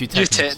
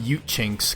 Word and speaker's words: Eutechnyx: How do you pronounce that name? You'll be better at this than me, Adam. What, is it Eutechnyx? Yeah, it's Eutechnyx. Eutechnyx, that's the one, yeah. I used to call them Eutechinks, because I didn't...